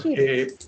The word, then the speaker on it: ship: Or ship. Ship. Ship, right? Ship. Not cheap, but ship.